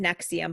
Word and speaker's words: NXIVM: So it's pronounced NXIVM, but it's spelled like NXVUM or something like that.